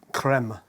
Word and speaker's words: Crème: 2 German yep and everyone says cream that's fine but actually it's French the creme creme creme creme you